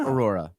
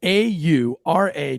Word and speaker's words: Aura: listen to candy's pronunciation is it aura it's aura a-u-r-a aura aura not aurora there's no extra o-r oh well i'm embarrassed